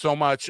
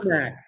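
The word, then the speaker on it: Somach: is your last name pronounced so much or Somak? Somak. Okay. Stomach without the T.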